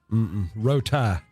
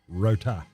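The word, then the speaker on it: Rowtie: Rotie. That's how you say it. R-O-W-T-I-E. That's how I always hear it. Rotie.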